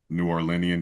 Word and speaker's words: New Orleanian: So something that is a big part, I would assume, of your identity is being a native New Orleanian. Did I pronounce that right?